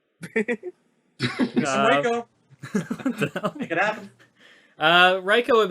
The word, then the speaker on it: Reiko: All right, number 16 is Reiko, or Rico, or Reiko. It's pronounced Reiko like an A. You gotta hold the A.